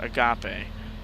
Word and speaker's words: agape: And it's pronounced agape.